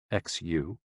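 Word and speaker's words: 嘘: The 6 sounds are XU, pronounced like shh, with a deep sigh, which is associated with the liver.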